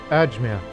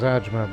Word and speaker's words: Ajmer: ajmer by the way i kept pronouncing it as ajma but i was i was watching some indian program and i've um when they mentioned the name that place i figured out the proper pronunciation it's but you